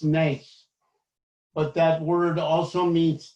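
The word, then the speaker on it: נס: in ancient Hebrew, the word for miracle is pronounced nes, but that word also means test and challenge, so that there is no miracle without a challenge that is presented to you.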